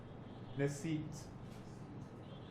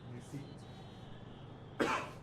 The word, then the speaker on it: Nesit: Nesit. Nesit. So this is the nes, this is the eat, this is the e, and then the t, and this is letting you know it's abstract concept.